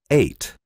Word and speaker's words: eight: Acuérdate que la GH no suena.